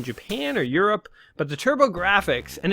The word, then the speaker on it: TurboGrafx: is the good old TurboGrafx 16. Yes, the PC Engine. For those of you, I believe it's called that in Japan or Europe. But the TurboGrafx, and it's spelled GRAFX, so it's like graphics.